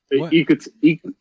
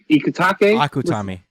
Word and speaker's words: Akutami: You see that a lot in American comics, and god damn it, yo, Ikutake. Akutami.